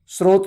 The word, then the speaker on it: स्रोत: फिर आप सहस्त्र को सहस्त्र नहीं बोलेंगे, स्रोत को स्त्रोत नहीं बोलेंगे।